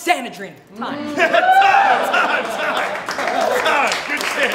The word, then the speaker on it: Sanedrin: ill pathogen D with me the name is pronounced sanadin time time time time good